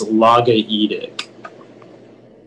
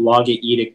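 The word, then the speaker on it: logaoedic: The sense is Chang wrote a logaedic poetry about peasants having a meter between song and common speech. And once again, the word is logaedic. Logaedic. Am I saying it correctly? Logaedic? That sounds right.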